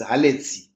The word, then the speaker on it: Alexi: I hope I'm pronouncing your word, your name very well. It's Alexi. Wendy says perfect.